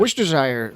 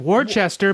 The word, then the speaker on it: Worcestershire: of people are like Worcestershire, but if you break it, Worcestershire. but if you parse it differently, it's Worcestershire sauce. Worcestershire sauce. Worcestershire. Worcestershire. Worcestershire. Shire is really pronounced sure.